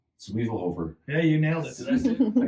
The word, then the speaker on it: Zwiefelhofer: Zwiefelhofer. Yeah, you nailed it. I got a name that nobody can pronounce.